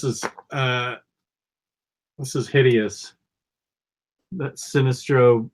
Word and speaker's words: Sinestro: to be really good that is Sinestro or Sinestro however you want to say his name I've always said it's Sinestro I say specialty good